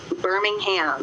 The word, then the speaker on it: Birmingham: How do the folks in Alabama pronounce the name of the city? Birmingham.